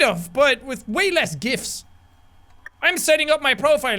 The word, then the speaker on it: GIF: "Kind of, but with way less gifs! I'm setting up my profile now." Emily, did you pronounce this as "jifs?"